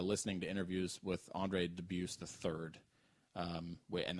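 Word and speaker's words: Dubus: debuse III um and that's how I found out to pronounce his last name the correct way like that oh really uh because I thought it was dubis and it's not um he was he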